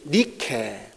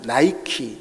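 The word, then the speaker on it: Νίκη: 물론 이제 여신이기도 하지만 그리스 신화에 보면은 승리의 여신 니케, 여러분들 히랍 발음으로는 니케지만은 이오타를 영어로는 이제 아이로 읽습니다. 그래서 아이 발음을 이제 아이라고 하죠. 나이키, 니케를 나이키라고 읽습니다.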